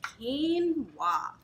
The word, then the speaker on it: quinoa: hard thing is how to pronounce quinoa you pronounce it like this quinoa and so what quinoa is is a ancient